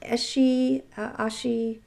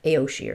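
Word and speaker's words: Aos sí: This is spelled Aossi. And I believe it is pronounced Eshi, Eshi. Let's say Eshi. I know in the past I have definitely pronounced it incorrectly, and I'm pretty sure I've said like Aoshi or something like that, but it is in fact pronounced Eshi. It comes from Irish mythology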